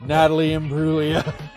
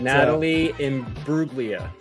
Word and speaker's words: Imbruglia: All I know is that Natalie Imbruglia. What did I say? Imbruglia? Imbruglia. Oh, I put an extra "oo" in there. It's like a Julia situation.